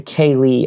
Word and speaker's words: cèilidh: It's like cèilidh. Okay, so production helped. The pronunciation is actually cèilidh and it's Scottish and Irish.